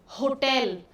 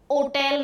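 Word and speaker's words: hotel: होटल। ओ टेल नहीं होता है। एच साइलेंट नहीं है।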